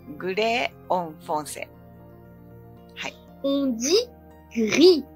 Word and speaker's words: gris: On dit gris, gris, G-R-I-S。グヒ、難しいですね。グヒ。